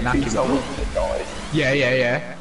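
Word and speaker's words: Iñaki Williams: Yeah, Inaki Williams.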